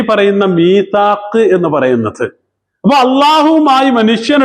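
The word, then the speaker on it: ميثاق: ഭാഷയിൽ മീസാക്ക് എന്ന് പറയുക യൂസി ഇത് ശരിക്കും മിവ് താക്ക് എന്നാണ് മിവ് ഔ എന്നല്ലേ അപ്പൊ മിവ് താക്ക് എന്നാണ് പക്ഷേ അതിന്റെ മുമ്പ് മി എന്നുള്ളതിന് കസർ ആയതുകൊണ്ട് അവിടെ യാ ഉച്ചാരണത്തിന് വേണ്ടിയിട്ട് എന്താക്കിയതാണ് യാ ആക്കി മാറ്റിയതാണ് എന്ത് മീസാക്ക് എന്ന് പറയുന്ന സാധനം മീസാക്ക്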